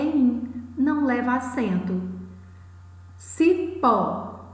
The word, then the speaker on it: cipó: Cipó, a sílaba mais forte, a sílaba tônica é pó.